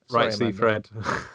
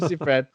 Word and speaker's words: Seyfried: Film stars Megan Fox, Amanda Seyfried. Is that how you say it? Oh, no, don't ever said that name out loud. Sorry, Seyfried. Right, Seyfried.